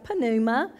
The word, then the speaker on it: pneuma: greek word for wind is pneuma which is spelled with a p like pneuma and is translated in